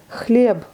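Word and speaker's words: хлеб: Chleb, c'est on, c'est masculin, c'est le pain. Et là, voyez, chleb, le B est devenu sourd, donc il se prononce comme un P plutôt.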